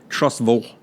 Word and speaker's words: Trussville: Because I have a good friend that lives there named Rick, and he pronounces it Trussville. Trussville. Like the ville is a vole.